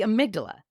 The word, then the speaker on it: amygdala: Mirror neurons and something called, the amygdala? Amygdala? The amygdala. There, nailed it. It's hard to pronounce without sounding like I'm personally malfunctioning, but first, stick with me.